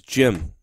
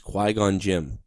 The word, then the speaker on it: Qui-Gon Jinn: I thought it was Jim. All right. Well, this is spelled J-I-N-N.